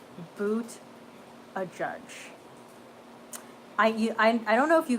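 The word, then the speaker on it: Buttigieg: new album coming stefan boot a judge is the pronunciation oh okay Thank You sugar Marielle oh that's how you pronounce his name boots a judge boots a judge I don't know if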